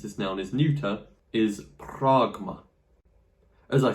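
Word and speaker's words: πρᾶγμα: So it'll be pronounced like R rather than A. Pragma.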